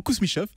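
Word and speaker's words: Kousmichoff: été fondé par la famille kousmichof je vais prononcer correctement kousmichof pour livrer des thés au tsar hein de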